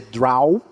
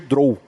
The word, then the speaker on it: Drow: Pode ser Draw ou pode ser Drow. É que nos Estados Unidos fala-se muito mais Draw. Quase não se fala Drow. Né? Mas é uma pronúncia correta. Tá certo falar Drow. Não tá errado. Depende do lugar onde que você veio.